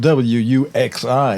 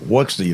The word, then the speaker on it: Wuxi: You know, it's spelled W-U-X-I. It looks like Wuxi to me, but it's pronounced as you heard Robert Peston say it properly, Wuxi.